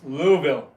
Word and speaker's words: Louisville: It's only two syllables. Louisville.